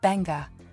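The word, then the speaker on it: Beqa: About 144 kilometers southeast of Nadi, off Pacific Harbor, Beka, pronounced Benga, Lagoon lures avid divers and adventure seekers, many of whom come here to experience the Beka Lagoon shark dive.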